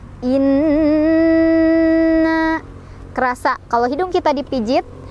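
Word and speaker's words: إنّا: Inna, di sana ada hukum gunnah musyaddadah, sebab ada nun yang bertasydid. Cara bacanya didengungkan. Dengungannya ditahan, boleh 2, boleh 3, boleh 4 ketukan sampai kerasa ke hidung ya. Inna kerasa.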